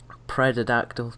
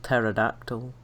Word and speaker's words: pterodactyl: pneumonia what i'm saying the p in pterodactyl is silent and i don't know where patrick is getting the pred from because it's p t e r the d is very far away so that was my issue it wasn't the p it was the d where is that he's